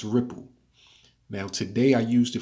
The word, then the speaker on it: Ripl: now but never used I guess it's pronounced ripple now today I used